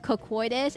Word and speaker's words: Cocytus: It's called okay, apparently it's called Ruler of Cocoitus. It's not pronounced cock. It's pronounced cocoitus. And, it's cocoitus. Decline cocoitus is the best way. I don't know. It's Greek, everyone.